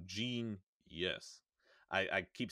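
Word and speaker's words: Jeen-yuhs: as a kanye trilogy genius is spelled out phonetically so it's j e e n y u h s so gene yes i i keep saying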